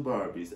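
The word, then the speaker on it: Barbey: I think they should come out with two Barbies. I think one should be called Barbie, but we're gonna spell it B-A-R-B-E-Y, like get it, bar and then B.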